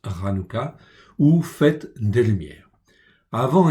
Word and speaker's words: Hanoukah: Nous voici donc à la fête de Hanouka, donc ça se prononce Hanouka, ou fête des Lumières.